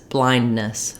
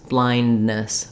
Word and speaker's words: blindness: having that release and so often in fast fluent speed speech you'll hear people say this more as blindness blindness and so this D sound can can drop and it's more just like One n one long n that connects blindness blindness so either you drop